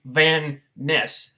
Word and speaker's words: Van Ness: When it's actually supposed to be Van Ness.